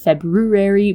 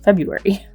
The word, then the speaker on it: February: And, no one really pronounces February properly. Everyone just says February. Everyone forgets about that extra R.